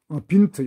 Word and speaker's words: Wind: 독일 말로는 이게 빌레라고 그래가지고 이만 들어간 빌레고 빈트, 요거는 빈트라고 그러고 와일드 이거는 빌트라고 합니다. 와일드는 빌트, 발음만 다르지 이게 다 스펠은 같거든요.